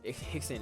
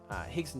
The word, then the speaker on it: Rickson: Royce with an R. Rickson is also with an R. That's just how they say it in Brazilian Portuguese.